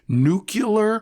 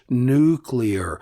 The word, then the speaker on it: nuclear: It seems that the American President George W. Bush put the mispronunciation nuclear on the map. Personally, I think he knew it was wrong. It is wrong. The word is nuclear.